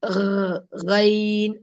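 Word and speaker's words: غين: But the Ghain is written like this in English, but we cannot read it properly because what I have written is Gain, isn't it? Gain. But in Arabic, we cannot, there's not a good pronunciation in English for that. So the real pronunciation of like this, Ghain.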